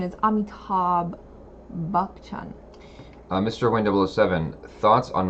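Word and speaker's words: Amitabh Bachchan: I make that jokes this nishta says the pronunciation is Amitabh bukchon mr.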